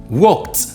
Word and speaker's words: walked: Quand je dis walk, le passé c'est walked. Voilà, il y a un petit T, c'est comme ça que ça se prononce.